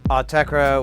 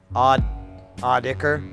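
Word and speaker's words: Autechre: I once met someone who insisted Autekra was pronounced Audicker. Interesting. From my understanding, it's just like I like the idea. It's a made-up word. You can pronounce it however you want.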